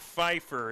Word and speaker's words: Pfeiffer: of a catch scott pfeiffer he his name starts with a p and it's silent just like just like